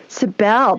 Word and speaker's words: Sabelle: right cyberline might say is it cybel or sybil or how do you pronounce it it's it's the bell it's about hi julie hi girl sabelle that sounds so fancy